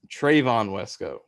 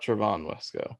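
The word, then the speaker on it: Trevon Wesco: said it differently but it's trayvon wesko not travon wesko trayvon westko oh the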